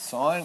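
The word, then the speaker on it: sin: which formula uses o and H and it's pronounced sign it is not th right s Theta isal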